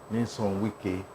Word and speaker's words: Nyesom Wike: So let me pronounce it well. Nyesom Wike, CON.